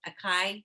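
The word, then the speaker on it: açaí: Acai?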